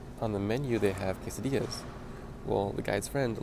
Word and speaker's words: quesadillas: the menu they have quesadillas well the guy's friend legitimately called him kiss Aviles like that's the way she pronounced him I'm not even joking